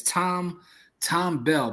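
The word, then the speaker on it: Thom Bell: I'm gonna find it because his pen is Tom Bell, but I think it's spelled like TH.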